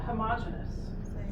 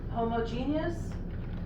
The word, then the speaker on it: homogeneous: What about homogeneous? Uniform in texture. Same, right. Homogeneous, homogeneous. Okay, same thing, just two different pronunciations.